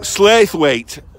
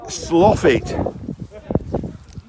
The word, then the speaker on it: Slaithwaite: Here we go, Slaithwaite, or as the locals pronounce it, Sloffit.